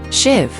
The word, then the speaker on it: sheave: They loop up over a wheel at the top called the sheave, pronounced shiv.